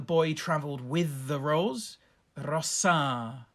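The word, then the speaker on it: rosā: traveled with the rose rossa long a macron over it in the plural rossis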